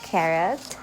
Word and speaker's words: Carote: So this is from carot. Tama ba yung pronunciation ko? It's carrot.